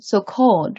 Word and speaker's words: so-called: Yeah, this was, I think, maybe so-called, right? So-called. Yeah, the stress is here, the second syllable.